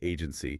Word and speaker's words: AGNTCY: Agntcy and yeah you pronounce it agency is presented as this